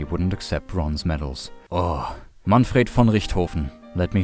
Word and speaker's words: Manfred von Richthofen: Oh, Manfred von Richthofen, let me say it properly one time before all the English viewers butcher it, was an actual mad lad.